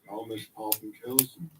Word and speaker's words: Garmisch-Partenkirchen: There's a better pronunciation. Garmisch-Partenkirchen.